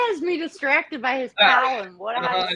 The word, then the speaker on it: Kung Pao: I don't see Kung Pao anywhere. Just And don't entice him. And that's spelled PAO. Okay, just for future reference. Okay. It's PA. It's not pow.